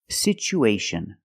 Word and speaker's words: situation: pration for this word we see the T as a second syllable with Tua so we pronounce it with the CH sound it's pronounced situ situation one situation or two situations so the second syllable is the long oo like Boot and moon situ situation we have